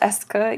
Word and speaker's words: est-ce que: using a phrase called Eska it's pronounced Eska even though it looks very different than that a second way is